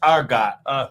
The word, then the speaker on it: Argot: It's pronounced Argot. Argo because the T is silent.